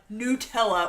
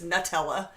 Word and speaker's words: Nutella: Adele says it always makes her laugh when Americans pronounce Nutella when it's Nutella.